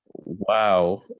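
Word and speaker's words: واو: Wow is pronounced by circling the lips.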